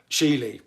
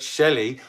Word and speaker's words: Shelee: Now that's spelled SHELEE. You wouldn't believe the incredible hassle I had trying not to call her Sheely for ages, but Shelley Art.